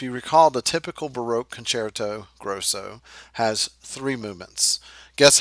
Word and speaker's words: concerto: necessarily exhibit that okay concerto though it is pronounced concerto don't say it you know concert oh I know it's real tempting to just pronounce